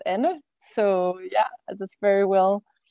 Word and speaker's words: Anne: Normally, people call me Anne or Anna, but it's Anne.